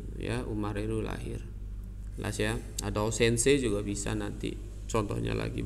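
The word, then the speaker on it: 先生: contoh seng Saint Seiya bacanya bukan seng saya tapi Sensei guru kemudian sengget sih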